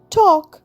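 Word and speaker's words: talk: টি এল কে টক অর্থাৎ কথা বলা। এলটা কিন্তু সাইলেন্ট।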